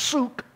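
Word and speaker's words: שׂוּךְ: Those two letters form a word in Hebrew, and that word is Strong's number 7753, and it's pronounced suk, just the vowel points changed.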